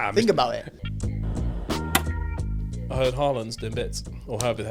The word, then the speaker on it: Haaland: You've got to go Haaland. Oh, Haaland. No. It's just 2 A's. So you go Haaland. Someone tell us in the comments how to say his name, please. Erling Haaland. Although I think it's like Haaland. Haaland is how you say it in Viking.